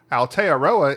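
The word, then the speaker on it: Aotearoa: from and he says he spells it out phonetically for me thank you Al aroa Al he says so I thought I'd clarify what it is Al aroa is the native and he fanatically says moori I always thought it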